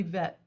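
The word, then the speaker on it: בית: here's the opening door but it could be bet it could be vet and again the idea of having hard and soft sounds it's like the hard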